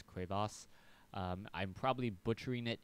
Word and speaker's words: crevasse: Prime here on cras someone told me it was the French pronunciation not crevis it's cras um I'm probably butchering